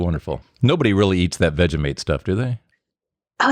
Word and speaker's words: Vegemite: of butter, and just like a smidgen of Vegemite, just like smeared, just a tiny, tiny little bit. It's fantastic. Yeah, I mispronounced it.